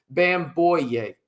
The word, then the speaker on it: Bamgboye: Um, I think bamboo does so at a higher level and it's bamboo boy. There you go. Just so y'all know, the G is silent.